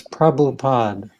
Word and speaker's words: Prabhupada: The Hare Krishna Yeah, movement, when he came over to his name is Prabhupada.